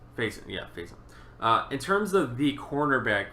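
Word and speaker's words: Facyson: Pronounced Faison. Faison.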